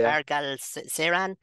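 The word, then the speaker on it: Mar Galcerán: well to see, and you can help me with the pronunciation, Alejandro, Mar Galacerian, making history in Spain. Am I right in pronouncing that correct? You mean the MP with intellectual disability? Yes, that's grand. Yeah, yeah, Margal Seran.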